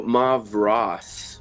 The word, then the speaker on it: Mavros: what the caravan owner Oh Marv Ross with an aah okay Mar mom Ross